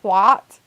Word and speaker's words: twat: Because I'm pretty sure here we say it with an ah sound, twat.